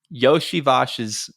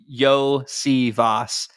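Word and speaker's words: Iosivas: Says, hey guys, the correct way to pronounce Andre Yoshivash's name is Yosivas.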